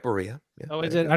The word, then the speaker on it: Barilla: You said it right, Barilla. Yeah, oh, is it? I don't know if that's pronounced translated over.